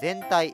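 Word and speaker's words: 前体: ついている方前の身体と書いて全体と読みますがこのず苦労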